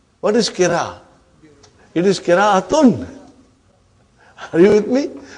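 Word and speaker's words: قراءة: It is qira'atun. Are you with me? When you say qira'a, you did not pronounce ta marbuta.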